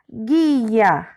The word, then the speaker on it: guia: por exemplo vou dar um exemplo de palavras guia guia quando a gente fala a gente sabe